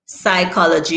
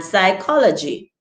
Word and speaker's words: psychology: And it's silent before S in a different selection of words such as Psalm, psych, and psychology.